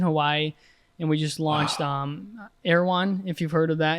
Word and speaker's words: Erewhon: Like, how do you get an Erewhon? Or is that how you pronounce it?